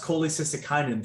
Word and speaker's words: cholecystokinin: intestine there's a hormone called cck and uh pronounced cholecystokinin three times fast and what that hormone does